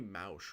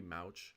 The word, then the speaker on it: Mauch: It's Cody Mauch, right? I thought it was Cody Mock for the longest time, but I think it's Cody Mauch or Mauch.